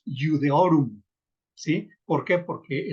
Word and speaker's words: Iudaeorum: En lugar de que yo lea Iudaeorum, solamente pronunciamos Iudeorum, ¿sí? ¿Por qué? Porque el diptongo AE se pronuncia E, como en la enunciación